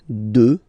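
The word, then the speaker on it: deux: 2, final X not pronounced, okay? 2.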